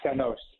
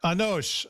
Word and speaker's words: Anosh: Anosh? Yes, Father. It's Anosh. Yeah. Anosh.